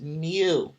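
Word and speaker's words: μ: mu but it's like mu mu so it's pronounced mu and then the second one here for sample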